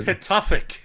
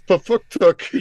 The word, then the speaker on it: Pituffik: It's I can't pronounce the. Pituffik. P Oh, I I was Oh, so T. close. Pafuktuk You was were so pretty damn close.